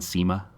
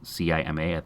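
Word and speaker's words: Cima: stuff like a Nissan SEMA like c ma I assume you pronounce it SEMA just a little sedan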